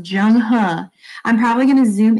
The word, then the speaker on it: Zheng He: It looks like Zhang He, but if we look deeper into the text right here, I'm actually going to mark on this. It's pronounced Zheng He.